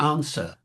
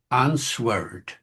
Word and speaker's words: answer: So is the W in a words like answer and swer and swer. They're silent now, those letters, but they weren't silent in those days, nor were they silent in Chaucer's time.